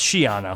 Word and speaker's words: Schiano: How he said Schiano, it's Schiano. Yeah, Schiano. Hard CH there, right? No, soft CH. Oh, silent C.